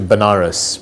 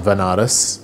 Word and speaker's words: Banaras: to him so I ended up going to Banaras which is a place in in India sometimes pronounces veneris which is a place where they perform their